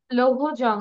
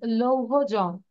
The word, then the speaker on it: Lohajang: Lohojong, it's a river's name. It is in Tangail. Where are you from? You are Lohajang. from Tangail? No. Okay, so its pronunciation is Lohojong.